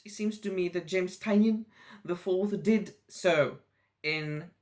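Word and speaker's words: Tynion: was written by james tanyan i think that his name is pronounced tylen although most of us won't want to pronounce it like tinian the fourth and illustrated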